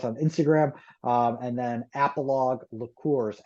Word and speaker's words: Apologue: Um and then appalog laours. Appalog is a P O L O G E.